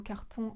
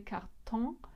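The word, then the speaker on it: Karton: cartes cartes postales donc je me suis renseigné après coup sur la prononciation du mot carton en allemand et je me suis rendu compte qu'on disait quart temps c'est complètement contre intuitif pour un français donc ce genre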